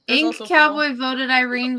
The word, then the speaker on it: Irene: There's Ink also Cowboy voted Irene because it rhymes with Queen.